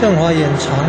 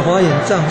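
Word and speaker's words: 正法眼藏: 正法，正法，正法眼常，念作常才是对，不是障，不是法眼障，是正法眼常。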